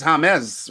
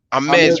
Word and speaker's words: James: The J in Spanish is pronounced as like a H. Okay. It's like jalapeno.